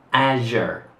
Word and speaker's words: azure: Assur. Il suono è lo stesso di television, ma si pronuncia Azure.